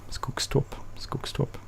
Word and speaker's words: Skogstorp: This is the first Let's Play on the Skogstorp map. Skogstorp, probably you would say with an English or American accent, but it's Skogstorp.